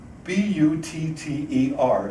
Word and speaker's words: butter: The double T. B-U-T-T-E-R should be pronounced, I'll try it, butter. It's not. For Irish people, it's either butter or butter. It's just a sound we can't deal with.